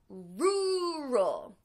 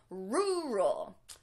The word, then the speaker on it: rural: to pronounce this is with a strong first syllable and that'll help you to make the R sounds so rural repeat it room roll